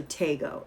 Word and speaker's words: Taygeaux: My daughter is also Tego, and hers is spelled Taygeaux.